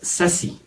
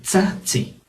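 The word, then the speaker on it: tzatzi: Algunos traducen la TZ como nada más Z o incluso como S, pero es una pronunciación diferente. Nos contaba el maestro Víctor Pérez, un gran nahuatlacto que yo conozco, que el verbo gritar es sasi, así lo pronuncian, pero realmente tiene que ser con tsatsi, tsatsi.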